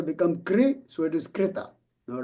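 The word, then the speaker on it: कृत: Okay, so you will see all the people from Gujarat and Maharashtra, they always say kruta.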